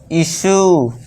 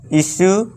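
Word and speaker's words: issue: Next fourth rule से देखिए क्या है दोस्तों, जब किसी वर्ड के लास्ट में यू ई आए तो यू ई का उच्चारण भी यहाँ यू होगा। अब देखिए दोस्तों, यू ई लास्ट में सभी में है, जी हाँ है सभी में। तो यहाँ पे क्या इसे करेंगे, परस्यू, यू का उच्चारण लॉन्ग वाले करेंगे, value, इशू, argue, pursue, value, इशू, argue.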